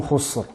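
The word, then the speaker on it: خسر: La lettre Sin ici vient après la lettre Kha qui est emphatique, donc bien veiller à prononcer de manière amincie. Khus. Et elle est située aussi avant une lettre Ra, la lettre Ra qui est emphatique. Donc elle est placée entre deux lettres emphatiques. Khusr et non Khusr.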